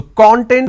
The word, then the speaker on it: content: training two two syllables when I pronounce this as con tent it means ingredient or index when I pronounce